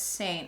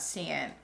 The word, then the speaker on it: Seint: let's talk about okay my bad i completely mispronounced the name it's saint not seeing you guys know what